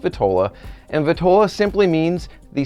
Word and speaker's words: vitola: them means so phrase our word number one vitola or vitala depending on how you hear it pronounced typically it's pronounced vitola and vatola simply means the size and shape